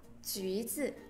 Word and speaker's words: 橘子: y dài thì khi đó sẽ được bỏ đi dấu hai chấm. Do vậy ở đây chúng ta nhìn thấy là chữ U nhưng tuy nhiên lại được đọc là U. Do vậy phải đọc là 橘子.